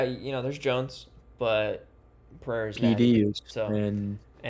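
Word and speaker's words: Procházka: Jiri How do you pronounce his last name? Prochazka? Prochazka. Prochazka.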